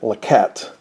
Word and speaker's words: Lecot: up the pronunciation for lacotte before i started the video there were two of them lacot and laquette um i'm going to use lakot then we have a